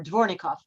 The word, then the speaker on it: Dvornikov: I may have not pronounced his name right before. Dvornikov.